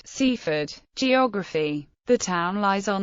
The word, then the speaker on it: Seaford: well as for London the traditional Sussex pronunciation of the name has a full vowel in each syllable cfd C ford however outside Sussex it